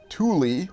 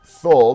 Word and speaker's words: Thule: We'll even take a look at Thule, or Thule, depending on how you want to pronounce it today, and the U.S.